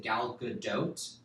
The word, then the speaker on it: Gal Gadot: Is it Gal Gadot? Yeah. It's a hard T, right?